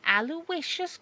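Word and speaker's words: Aloysius: my my name is aloicious he pronounces each syllable individually aloicious you don't know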